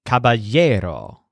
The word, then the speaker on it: caballero: word for night is Caballero so the stress sounds kind of like a year Caballero note that the word